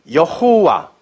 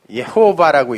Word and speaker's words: 여호와: 그리고 야가 바로 여호와, 예호바라고 읽고, 뭐 이 바브를 와우라고도 읽으니까 여호와, 예호바 다 같은 말이에요, 그냥요.